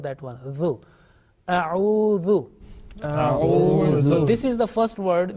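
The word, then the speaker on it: أعوذ: A'udhu. This is the first word which is commonly mispronounced.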